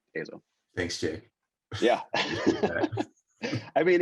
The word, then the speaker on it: EIZO: It's apparently EIZO, everyone. That's how you say it correctly. EIZO.